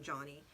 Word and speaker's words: Joanie: you this woman joanie it's joanie i think she says she pronounces the name johnny um eckerson taught us